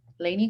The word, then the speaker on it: Laney: And I don't think you didn't mention you're from Laney College. Now, am I pronouncing that right? Is that where you're currently going? Who, me? Yeah. Yeah, I go to Laney College.